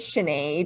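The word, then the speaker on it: Sinéad: so my name is sinead it's like the irish singer sinead o'connor if he's heard of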